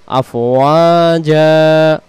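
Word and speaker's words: أَفْوَاجًا: দুই জবর দম ছেড়ে দেওয়ার সময় পাওয়া গেলে একটা জবরকে বাদ দিতে হয়, আর যে আরেকটা থাকবে ওই জবরটাকে এগালিফ টেনে পড়তে হবে। তাহলে এখানে উচ্চারণটা আমরা কি বলবো? আফওয়াজা, আবার আফওয়াজা, সবাই বলেন আফওয়াজা।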